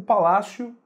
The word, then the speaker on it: palácio: Você não diz palácio, nem diz palácio, né? Dificilmente você vai ouvir alguém dizer palácio, né? O que a gente diz é o palácio, então você pronuncia o O como se fosse um U.